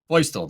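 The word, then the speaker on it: Feustel: You say it boistl.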